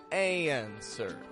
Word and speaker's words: answer: it sounds like and it sounds like answer no W and we stretch the a in sound right out using the American twang if you want to use the American accent a and the stress goes strong weak answer up down high flat